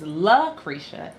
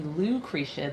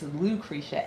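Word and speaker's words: Lucretia: So, LA and people think my name is La Kisha. It's actually Lou KCA. The L A is my first name and my middle initial. Um, so it's Lucricia, L U C R E T I A, not LCA.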